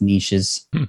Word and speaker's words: niches: And I know it's pronounced niches. Don't at me on that. But it rhymes better.